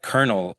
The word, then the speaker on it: colonel: A word like colonel in our language doesn't have an R in it, but we pronounce the R. So there are cases where you're pronouncing a letter that's not there.